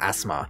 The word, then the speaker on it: asthma: just say you've got asthma completely skipped the th sound nut that is too